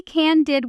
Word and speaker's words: candid: Can I be can did with you for a second? You notice the stress lands hard on the first syllable.